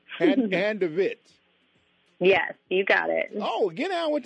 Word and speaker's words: Handevidt: go for it now this is hand ofit is how you say my last name hand ofit yes you got it